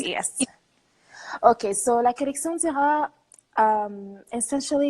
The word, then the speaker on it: Lacollectiondira: So it's La Uh-huh. Collection but Anglophones find it easier to say La Collection Dira. Okay, Lacollectiondira. Okay. What does Exactly, that yes. mean? Okay, so La Collection Dira, essentially it's like a play of words.